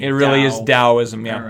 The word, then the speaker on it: Taoism: In Taoism, it's also Taoism. It's a D and T thing in China.